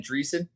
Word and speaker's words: Driessen: didn't call games yeah in the 70s dan dreesen yes andreas andreessen okay so then cool with